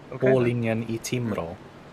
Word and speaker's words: Hårlinjen I Timrå: Hårlinjen I Timrå.